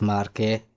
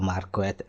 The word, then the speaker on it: Marquette: So this is the examples, this Marquette or Marquette. But it's Marquette, it's not Marquette, yeah, right? Marquette is a English pronunciation. It's Marquette, it's French.